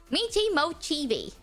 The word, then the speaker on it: Michi Mochievee: I am wondering how you pronounce Mochievee. How to Michi Mochievee. That's how you say it. It's Michi Mochievee.